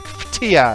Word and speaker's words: Phthia: It has no vowels, but it's pronounced like Phthia as far as I know.